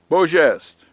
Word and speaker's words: beau geste: l ime sublime means noble grand majestic sublime beau geste from the french be EA u GE ste